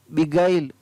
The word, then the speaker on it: beguile: BEGUILE, बिगाइल। CONTIGUITY, contiguity. ROGUISS, रोगिश। इन 4 words के अंदर GUE का उच्चारण है वो अलग अलग तरीके से हो